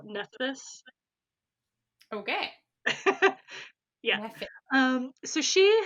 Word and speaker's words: Nephthys: nothing even brother sorry her name is spelled really weird nephes it's phth so nephthys okay yeah um so